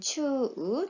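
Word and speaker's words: 中: 중이라는 소리로 읽을 때는 추 또는 주, 가운데라는 뜻은 낚아라고 읽습니다.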